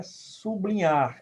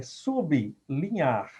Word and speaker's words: sublinhar: ficam separados viu então na pronúncia não é sublinhar é sublinhar e na separação silábica também